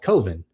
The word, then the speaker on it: Coven: about how he's like, it's pronounced Coven. I don't understand. He's like, how else can it be pronounced? It's like Coven. It's the proper pronunciation. He's like, well, Coven sounds like oven, and that just doesn't work.